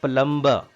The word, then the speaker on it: plumber: Plumber. B is silent here. It is not plumber.